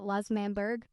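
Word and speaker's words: L'Manberg: And also, yes, that's how you say it, Las Manberg.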